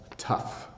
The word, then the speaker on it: tough: the words rhyme so this G H is an F sound rough and then I have tough so tough is how